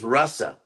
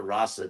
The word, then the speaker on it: rasa: are different words R so the word is Russa pronounce like the English Russell like the name Russell like to Russell the